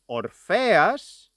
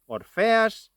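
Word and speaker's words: Ορφέας: Orpheus and Eurydice are names, and this is the English pronunciation of those names. In modern Greek, we pronounce them as Orpheas and Eurydice. Orpheas, Eurydice. And this is the pronunciation I will be using in this video.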